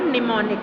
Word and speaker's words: mnemonic: तो स्टूडेंट्स बहुत से स्टूडेंट्स को नहीं पता होगा बट M इसमें साइलेंट रहता है। ठीक है, लेकिन हमारा प्रोनाउंसिएशन निमोनिक होता है और हम जब इसको लिखते हैं तो M स्टार्ट होता है।